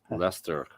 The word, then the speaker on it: Leicester: how they pronounce it it's just like lycester they they call it lester but if you say it it's like zester but the english they call it leicester yes yes we have